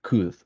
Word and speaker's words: could: These two words have maybe the same pronunciation. Should and could. You don't pronounce the L, the letter L.